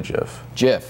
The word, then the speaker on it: GIF: fun we'll debate this Jif or gif how do you say it definitely jiff jiff I'm a gift guy or gif so there here's the debate is it sounds like Jeff and I think I say jiff more often than not